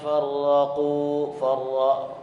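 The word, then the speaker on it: فرقوا: Innalladzina farraqu ra itu di situ tafhim. Jadi dibaca tebal. Satu getaran maksimal 2 getaran saja.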